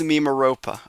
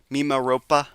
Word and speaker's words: Mimaropa: I again my Spanish friend has been making fun of me for my pronunciations but it is mimopa. Okay, I got it. Thank you. Thank you for the confirmation. Okay, so mimaropa ropa like that. Mimaropa. Not P but Pa.